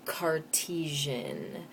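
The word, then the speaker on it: Cartesian: up those are called cartisian coordinates and that is named after decart we don't say detian like we say Shakespearean we say cartisian when it is of decart and he's the one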